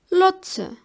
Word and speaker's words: Lotse: T, Z and TS don't have their similar English version. They are pronounced like ts, ts. For example, übersetzen. Übersetzen. It means to translate. Or Lotse.